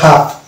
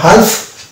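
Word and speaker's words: half: হচ্ছে হাফ কাফ এটা হালফ কালফ এরকম না এটা হচ্ছে হাফ হাফ কাফ তারপর চলে যাব ভয়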